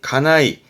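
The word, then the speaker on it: 家内: 때 자주 나오는게 외과요법 안나이 안나이 가네 그래서 발음이 가나이 가나이 집에 아내 있다라 님에서 그죠 안 사람이라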